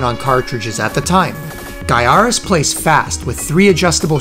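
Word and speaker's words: Gaiares: for being extremely difficult and that game is guyaris and guyaris is number one yes it's pronounced guyaris cause jamie bunker says so but mullets aside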